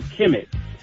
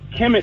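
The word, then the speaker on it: Kemet: we really want to talk about is also Kim it and and that's spelled kmt Kim it was actually ancient Egypt so before it was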